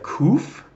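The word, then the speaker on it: ק: okay then we have kouf roof and that of course makes the cue sound just the second okay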